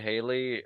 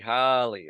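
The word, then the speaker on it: Halle: I do know that Haley uh Haley Bailey oh my goodness oh my goodness is that how you say it I think it's h h Holly okay Holly Bailey right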